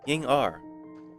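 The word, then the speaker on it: Yingr: Ying R.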